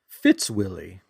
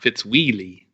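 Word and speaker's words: Fitzwilly: here we go it's called fits Willie oh and and white here's a 1967 Swilley you were taught me to spell that for you yeah F IT z wi ll Y it's okay let's make sure one like fits wheelie you see another BMX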